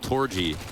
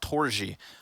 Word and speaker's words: Torzsi: It's pronounced Torzsi. Torzsi, yeah. It's Torzsi something. Yeah, there's a little bit of a J in there.